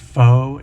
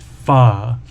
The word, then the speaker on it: pho: pho, pho soup, and that's spelled p h o, but it's not pronounced foe, it's pronounced fa.